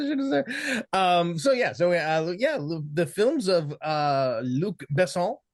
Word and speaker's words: Besson: The films of Luc Besson. I'm assuming I'm gonna put the accent on the second syllable.